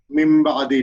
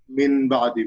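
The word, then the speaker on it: مِنْ بَعْدِ: The noon will be changed into mim, and it will be pronounced like mim ba'di, not min ba'di.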